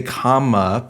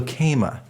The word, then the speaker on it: Kama: Yeah, I was going to say Kama, but I don't know. So Kema. Okay, great. It makes perfect sense. Yep, Kema. Yeah. My parents just got creative with the pronunciation.